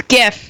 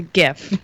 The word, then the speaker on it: GIF: It's GIF. It's GIF. The creator says it's pronounced GIF. But then wouldn't it be a J?